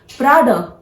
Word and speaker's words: Prada: How you have to pronounce? Prada. This is not Prada. This brand is known as Prada.